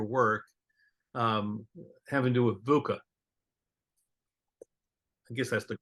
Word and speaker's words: VUCA: So I want to kind of transition to another part of your work, having to do with VUCA. I guess that's the correct pronunciation.